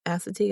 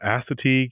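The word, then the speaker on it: Assateague: And I'm going to need your help, Chenise, because I don't want to butcher the name, but is it Asetig Island National Seashore? Yes. Asetig Island. Yes. Yeah. Asetig Island National Seashore.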